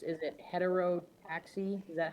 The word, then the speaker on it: heterotaxy: Is it heterero taxi? Is that how you say that? Or I don't want to mess up the wording. I believe it is hetereroaxi, but we'll give a pronounce heterotaxi.